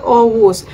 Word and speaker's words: Oğuz: team nila ni augus is it augus or aus ang alam ko kasi silent G yun eh sa turkey yung G na may line na ganon is um silent geon of course maglalagay